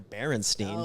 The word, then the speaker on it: Berenstain: or Berenstein oh yeah because you know when it's spelled it's b-e-r-e-n-e yeah it ends up with the stain yeah ends with a stain just like that junk man it's not Stein I know yeah you're